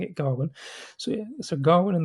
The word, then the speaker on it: Gawain: Sir Gawain and the Green Knight, not Sir Gawain, as I thought it was until I actually watched the film and then realised they're pronouncing it Garwin.